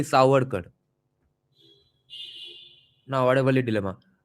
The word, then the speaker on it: Savarkar: Va and wa, That's the difference. WA versus VA. Savarkar, that's what we usually pronounce because we see it written as SAV. I have always pronounced it as Savarkar. Now I find out it's actually Savarkar.